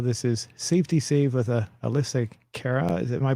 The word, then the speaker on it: AlyssaKera: Well, this is Safety Save with AlyssaKera. Am I pronouncing that right?